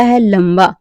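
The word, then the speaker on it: hall: ओ कब करते हैं यदि किसी वर्ड में ए के बाद डबल एल हो तो हम ए का उच्चारण जो है व लक आ करते हैं जैसे सी ए एल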